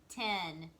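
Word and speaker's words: ten: spell the number 10 a lot of times in texas we say 10 with an i instead of an e but if you're talking about the number it's t-e-n-10 if we say it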